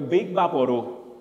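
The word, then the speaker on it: Vicks VapoRub: It's not Vicks. It's a Big Vaporu.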